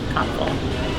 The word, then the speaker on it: Kopfle: PG Braun here, president of Blackstone Labs, with Kopfle. Am I saying it right? Hi guys, Kopfle. Kopfle. Close, Kopfle.